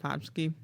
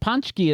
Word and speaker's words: pączki: Was I wrong when I said Potski? So you were a little was wrong. Yes. I was less right. Yes, Okay. the pączki is a Polish thing, I believe, Mm.